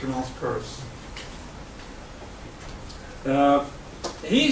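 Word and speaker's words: Peirce: you would might think that it should be pronounced peers but it should not be it's a nice curse uh he says there are only three ways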